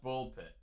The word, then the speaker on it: Ball x Pit: Um, the publisher said it's just pronounced Ball Pit.